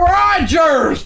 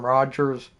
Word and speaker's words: Rodgers: I just say Aaron Rodgers. So I'm pretty sure I do say the D. It just sounds a bit silent.